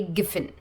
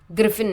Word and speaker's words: Giffen: Okay, तो सबसे पहले गिफिन गुड्स आता है, इसका स्पेलिंग है GRIFFIN, बट हमें प्रोनाउंस हम इसे करेंगे गिफिन, ग्रिफिन नहीं, गिफिन।